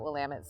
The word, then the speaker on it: Willamette: I'm the Director of Recruitment at Willamette University, and I'd like to take just a few minutes to tell you a little bit about Willamette's story.